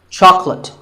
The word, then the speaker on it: chocolate: Chocolate. When you ask for this at the store, make sure that there are only 2 syllables.